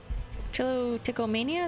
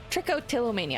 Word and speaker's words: trichotillomania: Trichomania, is that it? I always say it. Trichotillomania.